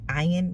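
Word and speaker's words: עין: Ayin means to look towards your future. Your future. The future. The ayin is actually, you would say ayin, in the proper way to say the Hebrew word, is the eye of Yahuah.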